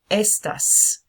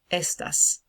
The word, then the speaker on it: estas: are you como estas this is not the word of stuff this is the word estas estas okay so at the stress goes on the first syllable that so these ties